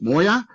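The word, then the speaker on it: 뭐야: characters on the right which is not chinese but korean pronounces moya which means what which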